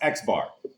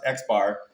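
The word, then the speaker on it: X-bar: with a bar on it and it goes pronounced Xbar. So, that little piece of information pronounced Xbar.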